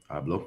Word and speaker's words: Abloh: death of uh virgil i honestly never know i knew how to say nigga's last name i blow i that's how i say it i'm assuming that's the right pronunciation i'll blow abelo abloh yup so virgil abloh who